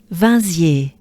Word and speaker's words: Vinziers: Then we have ye. So e, banana smile, e, ya, and e, and not e. So we do have both. We have e, ya, e. So it goes into, or it goes like this. E, ye. And then we shorten it. Iye. Take a good breath. Iye. And then you shorten it. Iye. And then as a whole, with the consonants, it goes like this. Vinziers.